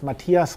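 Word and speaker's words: Matthias: yeah my name is Matias I'm originally from Germany you spell the name m a TT h i a s the H is silent so therefore I just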